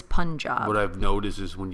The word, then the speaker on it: Punjab: And so the U in Punjab, or Punjab, we assumed was pronounced the same way. If it's Hindu, we assumed it was Punjab. It's not. It's Punjab.